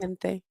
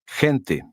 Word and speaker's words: gente: Now repeat number 12 after the speaker, paying attention to the GE combination. Gente. Gente.